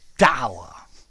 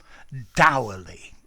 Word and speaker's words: dour: But I say dour, like in our, but both pronunciations are acceptable.